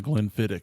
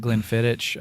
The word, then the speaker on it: Glenfiddich: tongue that's definitely the glenfiddich that's in it so when i've pronounced it glenn fittich i've been wrong for a very long time yes that sucks that's